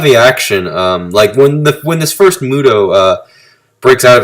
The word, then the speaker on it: MUTO: A lot of the action, when this first Muto, breaks out of its cocoon and starts stomping